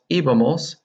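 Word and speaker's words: íbamos: or el eva nosotros iva-mos and noticed the accent on the I Eva Mo's a owes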